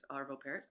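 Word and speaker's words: Arvo Pärt: his name is pronounced I I say parot I think it's I think it's got the the umlout over the a I think it's parot arvo parot I am enamored by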